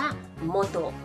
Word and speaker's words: 本: ว่า หนังสือ ค่ะ ค่ะ คำ ว่า ฮง นะ คะ ออก เสียง ได้ 2 เสียง นะ คะ อีก เสียง นึง ก็ จะ ออก เสียง ว่า โมโตะ โมโตะ ค่ะ เสียง ฮง นะ คะ เป็น เสียง องโยมิ นะ คะ ส่วน โมโตะ เป็น เสียง คุง โยมิ ค่ะ ความ หมาย ของ คำ